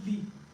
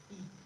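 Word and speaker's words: 이: And then Lee Min Ho, his name is not Lee, right? His name is E.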